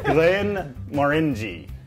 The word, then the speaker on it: Glenmorangie: bottle of that's right Glenn more in G then Glenmorangie more enjoy more in G not Glenmorangie that's how you even